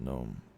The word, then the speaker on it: gnome: Pronounced gnome.